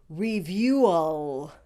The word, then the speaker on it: review: the vowel u you it is just like the word you as in you and me you two positions and